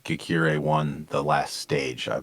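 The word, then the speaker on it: Ghekiere: um I think uh Justine girka no Justine geir I think is how how her name is pronounced from AG insurance is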